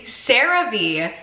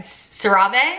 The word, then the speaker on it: CeraVe: I use the, okay, I know how to pronounce this now. I use the CeraVe Hydrating Facial cleanser. Now, a few vlogs ago, I referred to this as, how did I say? I said CeraVe, I think.